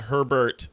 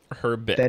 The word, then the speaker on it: Herbet: the one are in her bit her 'but not herbert her bed is correct got it got it